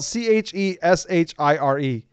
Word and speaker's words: Cheshire: It's not Gables, it is spelled Cheshire. That is Cheshire. Cheshire, yeah. I've seen The Hobbit. It's Shire. Shire.